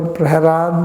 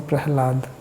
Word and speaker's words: Prahlad: The La is quite often pronounced as Ra.